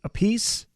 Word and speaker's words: Appice: Carmine Appice or Appice? I happen to pronounce his last name, depending on who you talk to, they Yeah.